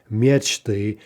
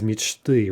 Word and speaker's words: мечты: Instead of the expected, perhaps, мечты, the plural of мечта is мечты, right, with no stress shift.